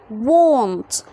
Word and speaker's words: want: want. want. عندي W وبعدها حرف ال A، فهخلي ال A هنا يتنطق أو، فأقول و. won't. يبقى لما الاقي ال A قبلها W هنطقها غالبا O، فاقول won't.